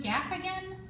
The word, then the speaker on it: Gaffigan: Jim Gaffigan, is that how you say it?